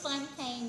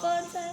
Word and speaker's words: Fountain: It's Fontaine, you all. Fontaine, Since I was a what? kid, it's okay. It's the way it's spelled, but it's Fontaine. Okay. It's spelled like fountain.